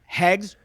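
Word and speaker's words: Heggs: is uh Luther Luther hegs Luther hegs h e g GS yeah Luther hegs and hegs rhymes with segs and segs is Facebook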